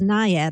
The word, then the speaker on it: naiad: pronouncing this one yeah i think it's the word is nyad i believe n-a-i-a-d yes they're uh naiads